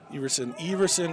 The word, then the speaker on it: Everson: Everson is pronounced long E version.